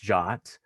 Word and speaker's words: JWT: of the conversation so json web tokens they're pronounced jot which was news to